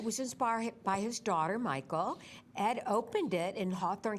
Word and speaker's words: Mychal: little bit about him Michael's Learning Place that's spelled m-y-c-h-a-l it was inspired by his daughter Michael Ed opened it in